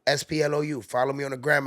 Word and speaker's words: Splou: The name is Sploo. Splou. Follow me on the gram and wherever you can spell it.